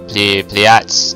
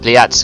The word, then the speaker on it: Pleiades: Anyway, I mean, Pleiades cluster.